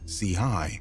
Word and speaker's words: CHII: The name wvttz, pronounced Watts, paid homage to an LA neighborhood, while CHII, pronounced C-High, signified his affiliation with the Crips, a notorious street gang.